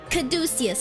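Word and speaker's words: caduceus: we yellow I yes I got this hey kadis is that how you pronounce it cusis how you caducus caducus okay I got it right that's a caducus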